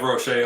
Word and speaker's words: Roché: Roche on Twitter. Just helping phonetically sound it out.